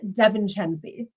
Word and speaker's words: Devencenzi: But I got married last year and I got blessed with this beautiful new last name that no one can pronounce. So I am Devencenzi.